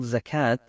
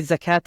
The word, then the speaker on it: zakat: traditionally all the annual zakat has been spent overseas I might say zakat and zakat zakat is my English pronunciation zakat is the more Arabic one so I'll sometimes flip